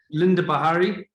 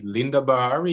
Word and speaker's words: Linda Bahari: and on social media linda bahari is the right way to pronounce it yeah it's the right way to pronounce this linda bahari you pronounce it as you write it excellent um we'll we'll